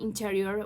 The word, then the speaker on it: interior: Another example could be interior, where the stress mark is placed on the second syllable.